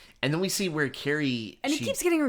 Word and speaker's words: Carrie: And then we see where Carrie... And he keeps getting her name wrong. Yeah. Cassie.